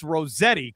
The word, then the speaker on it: Rosatti: I know people screw it up, but it's Rosetti, correct, coach?